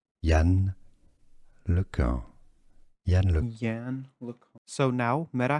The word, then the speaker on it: Yann LeCun: French, American, computer scientist, French pronunciation, Yann LeCun.